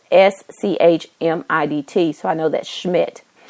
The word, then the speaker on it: Schmidt: h e r i and her last name is spelled s c h m i d t so I know that's Schmidt and um she